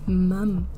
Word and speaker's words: mum: It's-- even saying it I'm-- it's hard for me to say it (it feels phonetically forced). It's 'MUM'.